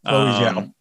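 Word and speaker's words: Chloé Zhao: and the directing pedigree of, how do you pronounce her name? Chloe Zhao? Yes, Chloe Zhao.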